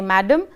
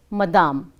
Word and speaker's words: madame: So in French, they don't say madame, they say it as madame.